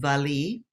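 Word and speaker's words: valiha: of all we have this is the traditional valley as it's called the spell valleja but it's pronounced valley um and this is an adaptation of it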